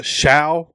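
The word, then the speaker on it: Shough: Um but apparently the Colts having a visit with a quarterback named Tyler uh Sha, I think is maybe how you say it. Not really sure. Sh O U G H.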